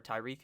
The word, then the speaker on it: Tyreek: really love to rekill or tyreek hill i believe is how you say his name not to rekill holy shit tariq cohen